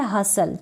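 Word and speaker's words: hustle: यही तरीका है इंग्लिश की स्पेलिंग को लिखने का, बेस्ट तरीका, ईजी तरीका। फिर यहाँ पर है हसल, क्या है, HU STLE सल, HU STLE सल, हसल।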